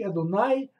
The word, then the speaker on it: Адонай: Но произносится оно по-еврейски «Адонай» – это как бы «мой Господь».